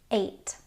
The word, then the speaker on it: eight: Ei makes a long a sound like in the word eight.